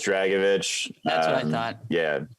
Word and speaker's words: Dragicevich: realized this is uh it's just uh it's just dragovich that's what i thought